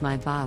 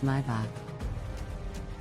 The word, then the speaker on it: Maybach: Next up, Maybach is pronounced as Maybach with the emphasis on the first syllable. Many people mispronounce it as Maybach.